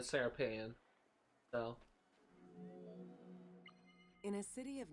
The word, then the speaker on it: Serapeion: I'm mispronouncing it all the time. Serapion. That's how it's pronounced, apparently. I guess that sounds a more accurate pronunciation than Serapeion.